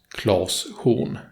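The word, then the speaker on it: Klas Horn: with the small pout the name should therefore be pronounced Klaus hoon in Swedish moving on in the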